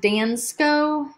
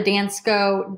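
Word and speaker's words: Dansko: for 50 all right I think it's pronounced dance Co da in sko he finds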